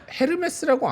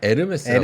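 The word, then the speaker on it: Hermès: 그다음에 요거는 헤르메스라고 안 하나? 에르메스라고 에르메스라고 합니다. 예.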